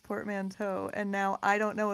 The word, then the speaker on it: portmanteau: it probably is portmanteau because it's spelled it's basically like the the teaau is is definitely like the same as Plateau so it's probably portmanteau